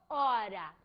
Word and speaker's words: horas: Minutos ou horas. Por quê? porque H-O, o H no espanhol, foneticamente falando, é mudo.